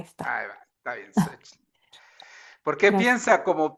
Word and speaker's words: Xochitl: ¿Qué nos dice Xochitl? ¿Cómo se pronuncia, perdones? Gracias, doctor. Buenas noches. No hay problema. Como que si fuera una S y no tuviera la T. Xochitl. Xochitl.